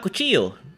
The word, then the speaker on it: cuchillo: The two I's is pronounced like a Y. Ah, cuchillo. So you don't say the L.